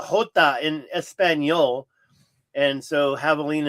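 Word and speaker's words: javelina: So, it's pronounced Havalina because the J is a hot in espanol. And so, Havalina is pronounced without the J.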